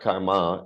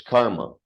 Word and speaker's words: karma: And every time you said it, you said karma, like there's a long mark over the last A. Но в вашем произношении это звучало каждый раз как карма, как будто над вторым был значок длительности. It's not karma, it's karma.